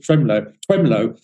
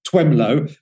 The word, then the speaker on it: Twemlow: Clifford Twemlow. And it sounds like you've got a bit of a speech impediment when you say his name, Twemlow, but it is actually spelled like that, Twemlow, Twemlow.